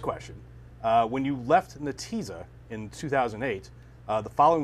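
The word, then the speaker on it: Netezza: switch she was the vp of marketing at nateza am i pronouncing that right now or then the teaser it's actually natiza but he's everybody oh yeah regardless you were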